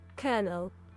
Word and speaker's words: colonel: Colonel. Colonel. Is that how you say it? Colonel. Colonel. Like there's an R in it.